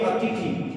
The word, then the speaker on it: अतिथि: अच्छा शब्द देखिए अतिथि। अब इसमें देखिए अतिथि में ध्यान रखना है आपको कि दोनों ही तरफ क्या होगा? छोटी इ की मात्रा आएगी।